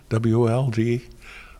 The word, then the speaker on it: Wold: poems you read, wold, W-O-L-D, rang a bell from Dickens. Chesney Wold was where that family in Bleak House lived, and I thought, oh, Wold. What rhymes with Wold? Well, gold.